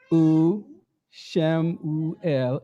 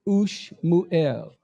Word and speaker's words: Samuel: So Samuel is how? U, Shem, U, El, and not Ush, Mu, El.